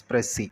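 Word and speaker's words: précis: dressy writing what is Press C pressure writing is uh an important productive study technique so this is pronounced as press C right press C singular press C and plural proceeds this is uh from French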